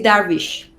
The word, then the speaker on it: Darvish: okay and what about this how do you pronounce it really well oh thank you and what about the surname it is that wish ah okay excellent um so where do you